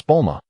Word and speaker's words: Bulma: It's Bulma. Please refrain from mispronouncing it.